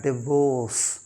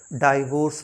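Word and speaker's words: divorce: is called प्लामा next D आईवी ओ आर सी E actually इसका correct pronunciation होता है डिवोर्स डाइवोर्स नहीं डिवोर्स फिर सी ओ यू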